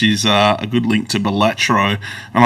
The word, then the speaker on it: Balatro: a good link to Balatro. And I've been told you have to pronounce it Balatro. It's not Balatro. Balatro.